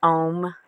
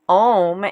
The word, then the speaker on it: Om: you pronounce it, but if you're using your tongue to say Om, you're doing it wrong. And your tongue should lie flat on the bottom of your mouth, because the point is